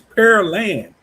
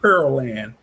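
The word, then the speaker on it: Pearland: It's per land, not peril land. It's pear like p e a r p per pear and then land.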